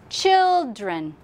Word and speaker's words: children: So listen to the word children. Children. Children. Children. Which one is strong? First one or second one?